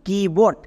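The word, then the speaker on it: keyboard: এর corresponding example দেখো, যেমন কিবোর্ড।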